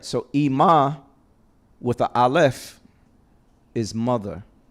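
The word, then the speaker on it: אמא: Aleph is silent. So you can't give it a property. You can't give it a vowel sound. It's just E.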